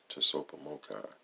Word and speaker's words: TSOPAHMOCCI: Number 4, carry out these humbling efforts of ICOPAHMOCCI, pronounced Tsopahmocci, through the reference 13 designated areas in as a wiser way as possible as needed.